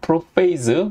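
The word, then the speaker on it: prophase: 자, 후기 애나페이즈 후반부에서 다시 복습하면은 프로페이즈, 프로페이즈, 자 여기는 P 발음, 여기는 F 발음, 프로페이즈, 그리고 메타페이즈, 메타페이즈, 이 중간 뭐가 있다 그랬죠?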